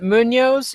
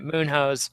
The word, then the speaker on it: Munhoz: And he says it Munoz, even though it's spelled Moonhose. Is it Munoz or Munoz? Munoz. Munoz. Okay, well then I don't even feel bad about saying it Moonhose.